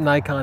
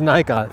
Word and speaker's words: Nikon: first of all I'm American Nikon us officially pronounces it Nikon including the president of the company whom I've talked with when he's in America he says Nikon z7 is the worldwide pronunciation for that it's